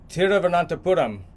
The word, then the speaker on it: Thiruvananthapuram: And from there we went to Thiruvananthapuram. We took a train. The British call it Trivandrum. But if you want to say it correctly in Malayalam, it's Thiruvananthapuram.